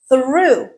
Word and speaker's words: through: It rhymes with the vowel sound in the word blue. through.